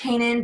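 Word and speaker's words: Canaan: And we went to Isaiah Kanan and we said, hey, is it Cannon or Kanan? And he goes, oh, it's Kanan, but I don't care.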